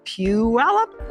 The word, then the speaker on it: Puyallup: ever thought to yourself how do you say Pew alop well that's how you say it peup like to show you what it' like to